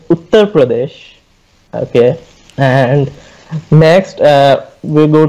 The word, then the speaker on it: Uttar Pradesh: Okay, first of all, to answer Ali, the state is pronounced as Uttar Pradesh.